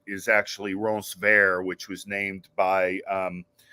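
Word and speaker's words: Ronceverte: which you know in West Virginia ease is pronounced uh Ron sert is actually Ron ver which was named by um the Makita Lafayette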